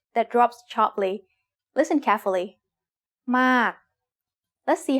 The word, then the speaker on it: มาก: It's the word มาก and it is said with a falling tone because of this rule.